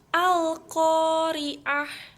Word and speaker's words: Al-Qari'ah: Karena terdapat huruf alif lam bertemu dengan qaf. Cara bacanya jelas dan terang. Al-Qari'ah.